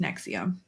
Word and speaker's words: NXIVM: um yeah NX IVM all capitals pronounced Nexium and I'll probably say it wrong because I've overread it